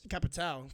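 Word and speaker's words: Capitão: And then Capitao is Capitao. People make fun of me the way I say Capitao, but that's how it's spelled, okay? So don't come at me.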